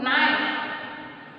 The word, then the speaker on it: knife: Knife. Knife. Dash knife. What do you feel here, dear student? A knife. Because a here k it is consonant. Oh, but k it is silent.